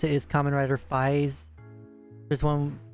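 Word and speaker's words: Kamen Rider 555: It's like they have a show called Common Rider and then you see 555 at the end and it's you pronounce it as Common Rider Fis.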